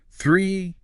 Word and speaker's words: three: Your tongue needs to be just lightly between your teeth.